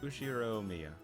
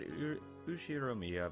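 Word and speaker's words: 右代宮: read it absolutely not the first part is my family name usir Mia that's a very plausible Japanese pronunciation so far yeah okay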